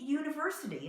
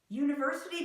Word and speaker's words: university: or University but University we put a Y in there that isn't there why is it consonant